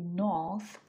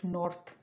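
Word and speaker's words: north: কিন্তু আমি উচ্চারণ করতেছি নথ নট নর্থ কারণ মাঝখানে র সাউন্ড উচ্চারণ হবে না রো সাউন্ডের উচ্চারণ অনুযায়ী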